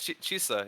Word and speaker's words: Chisa: Yeah, it's Chisa. Yeah, it's Chisa, like okay. Lisa, but Chisa.